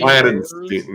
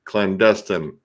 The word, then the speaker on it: clandestine: Clandenstein. No, clandestine.